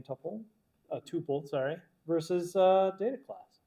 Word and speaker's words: tuple: Uh tuple, sorry, versus uh data class. I always say tpple even though for years I know it's tuple but I learned it as tpple and I still say it wrong.